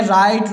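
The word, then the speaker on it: write: यहाँ पर जैसे ही आप देख सकते हैं राइट, रॉन्ग, रिस्ट, यहाँ पर W साइलेंस है। अगर किसी स्पेलिंग की शुरुआत हु से होती है तो सामान्यतः W साइलेंस ही होता है।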